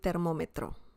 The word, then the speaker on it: termómetro: We have an accent mark on top of the letter O.